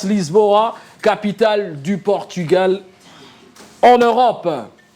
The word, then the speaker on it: Lisboa: Oui, le point encore pour un Lisbon ou Lisboa, hein. Chez eux, ils prononcent Lisboa, capitale du Portugal en Europe.